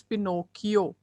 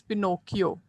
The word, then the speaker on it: Pinocchio: The pronunciation for this word is Pinocchio, right? It is Pinocchio.